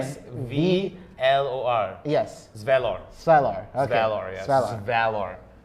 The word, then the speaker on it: Svalor: S-V-L-O-R. That's how you say his name. S-V-L-O-R. Yes. Svalor.